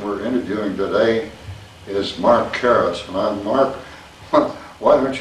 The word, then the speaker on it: Caress: way frontwards and backwards Caris sometimes is caress to some members of the family but we normally call it Caris around Crawfordville and other